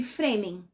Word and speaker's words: Fremen: Fremen se escreve F R E. E aí dá pra gente fazer a liga de que a gente também poderia ler esse nome se tivesse mais um e como free man.